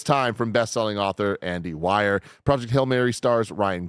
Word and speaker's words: Weir: Why are we It's Weir.